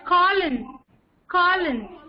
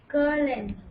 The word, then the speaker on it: cologne: Let us Colin. Okay, pronounce it again. Say Colin. Colin.